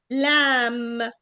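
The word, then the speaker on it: lamb: ا طيب عندي قلنا ان في قاعده في الانجلش بتقول ان الام مع البي مع اللي هي الفويس بي ما بتتنطقش بننطق الام بس بنقول ايه كوم كوم كوم كوم لام اوكي لكن البي اللي هي الفويس الوي اللي بيطلع منها هوا كتير دي تتنطق عادي زي بقول بقول كامب كامب بنقول لامب اللي هي اللمبه اللي في السقف غير لام اللي هو البيبي شيب شايفين الفرق لام اند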